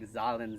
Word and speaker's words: Zahlen: The pronunciation, it's something like Zahlen, Z-A-H-L-E-N, or something like that.